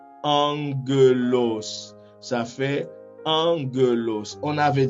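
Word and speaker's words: ἄγγελος: de voir, eh bien, nous allons lire le premier gamma comme si c'était un nu, et un N dans l'alphabet latin. Eh bien, on va lire la première syllabe comme en. Vous voyez? En. On continue et puis on va lire la deuxième syllabe ge. La deuxième syllabe ge. Et puis on poursuit avec la dernière syllabe qui est los. Eh bien, ça fait angelos.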